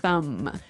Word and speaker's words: thumb: so the pronunciation here do you say the b at the end of this word no I actually only pronounce the M the thumb the thumb